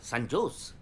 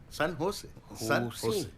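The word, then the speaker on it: San José: ও বাবা, সান জোস? সান হোসে। হ্যাঁ সান হোসে। জের উচ্চারণটা এইচ এর মতো হবে, সান হোসে।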